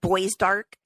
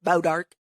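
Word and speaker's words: Bois d'Arc: weird day pares Missouri it's probably like bow dark which is spelled like b-o-i-s-d-a-r-c but it's it looks like boys dark but it's bow dark anyway I don't know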